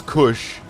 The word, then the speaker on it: kush: Like it's kush. It's kush. First off, kush is spelled with a K. And it's not C H. It's S H. Kush, like hush, but with a K. And a kuh sound instead of a huh sound. Kush.